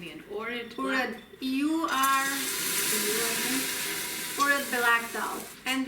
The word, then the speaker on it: Urad: Urad.